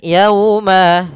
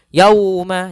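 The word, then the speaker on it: الْيَوْمَ: Kemudian yauma sama seperti sebelumnya pada lafal lau, yaitu ada bacaan lin, yaitu lembut dalam pelafalannya dan tidak boleh dihentakkan. Tidak boleh yauma, tidak, tapi dia lembut saja. Yaslauhal yauma bima.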